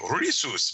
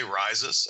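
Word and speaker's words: Risus: And I've been told that the Latin version would be like with a rolled R and a long E and kind of an oo sound, like Rhesus. But I don't. I just say Rhesus myself.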